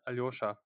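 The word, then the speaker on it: Aljoša: right brother is it aljosa uh Al uh it's yeah it's it's hard to pronounce it's alosa alosa alosa I speak with many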